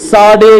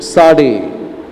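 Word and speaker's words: צדי: तो देखो, ये इसको बोलते हैं, ये अल्फाबेट को प्रोनाउंस करने के समय इसे साडे करके बोलेंगे। साडे, साडे मीन्स बाउ डाउन, क्या करना है?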